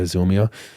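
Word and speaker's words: Zillmere: Zilmere? Is that how you pronounce it? Yeah, Zilmere.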